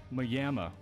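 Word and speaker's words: Maimi: grow up next to a place that was spelled like Miami m-a-i-m-i what literally everybody in the area pronounced it as mayama that's some deep southern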